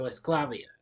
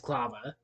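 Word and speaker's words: Esclava: Christian takes that to escalavia clava excuse me mispronounce it it's clava a beauty salon owned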